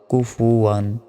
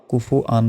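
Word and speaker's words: كُفُوًا: ওয়া দুই জবর ওয়ান, কুফু ওয়ান। আমরা অনেকে কি বললি এখানে বলি যে কুফু আন বলি, ভুল। ওয়াও দুই জবর ওয়ান হয়, তাহলে উচ্চারণ হবে কুফু ওয়ান, কুফু ওয়ান।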